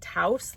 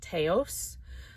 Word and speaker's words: Taos: That's how you say it, Taos, like house, not Teos.